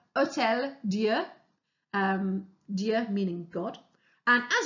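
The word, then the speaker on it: Hôtel-Dieu: The picture you can see here is of a hospital in Paris called the Hotel, sorry, let me pronounce that better, Hotel Dieu, Dieu meaning God.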